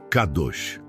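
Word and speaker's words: קדוש: Para entendermos a natureza deste fruto, podemos olhar para a palavra hebraica, para santo, que é cadosch, se pronuncia cadosch.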